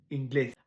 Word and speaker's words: inglés: Fait que si tu vois ce que l'accent, c'est là qu'il faut que tu fasses l'intonation. Deuxième syllabe. Francés, inglés.